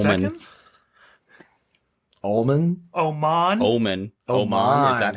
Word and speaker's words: Oman: Oman. Is that how it's pronounced?